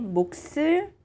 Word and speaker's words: 몫을: the change the sound to the sout 제 몫을 주세요 제 몫을 주세요 제 몫을 주세요 제